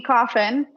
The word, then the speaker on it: Coffin: So Coffin tipped Venmo $20 and said, Rachel, it's coffin, just like the box.